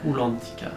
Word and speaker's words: Rulantica: Rulantica. Tu l'as bien dit. Oui, il faut bien le dire parce que, attention, on est en Allemagne donc on prononce toutes les lettres.